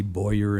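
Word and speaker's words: Borr: needs some help here my last name is spelled b o r r for some reason people just don't quite see Boer in that last name but uh to help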